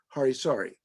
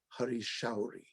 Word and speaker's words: Hari Shauri: By the way, everyone mispronounces his name as Hari Sari. The proper pronunciation is Hari Shauri.